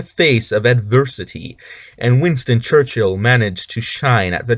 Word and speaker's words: Churchill: 11 Winston Church ill and yes it's not pronounced Church Hill it's Church ill uh because there's only one H uh after